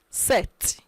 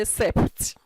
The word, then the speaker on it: sept: k catri sink six set also in set you don't pronounce the p the p will be muted mute set you don't say sept set then wait take